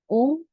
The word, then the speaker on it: ओम: ओम तीन शब्दों से मिलके बना है। अ, उ और म। ये सबने सुना है। मगर हम उच्चारण तो खाली उ और म का करते हैं।